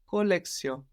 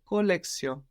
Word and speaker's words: collection: spelled the same but we notice an S sound instead of the sh that we have in English collection and in French colio like with an S